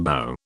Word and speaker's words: Bo: His name was Mr. Bo, pronounced like Bo in Boaty.